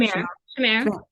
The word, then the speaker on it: Shamir: So I'm a nonprofit myself, and I guess Shamir, is that Shamar? How do you say her name? Shamir.